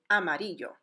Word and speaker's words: Amarillo: bordering neighbor is Mexico the correct way to say that city name is actually a MIDI yo so the next time